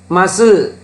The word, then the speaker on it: muscle: ඊළඟ එකේ silent C අකුර silent. බලමු අපි. muscle, scissors.